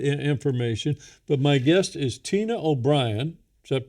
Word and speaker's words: O'Brien: But my guest is Tina O'Brien. Is that pronounced correctly?